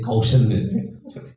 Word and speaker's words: quotient: quotient ya parodi sih quotient question pertanyaan itu bahasa tulisannya question itu pertanyaan bacanya question bacanya question ini iki quotient tulisannya quotient bacanya quotient intellectual quotient kecerdasan dalam berpikir.